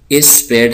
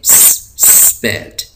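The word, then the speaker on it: spade: है इसको हम पढ़ेंगे इस पैड हम इसको नहीं पढ़ेंगे इस पैड इसको हम पढ़ेंगे स्पेड स्पेड स्पेड तो स्पेड कहते हैं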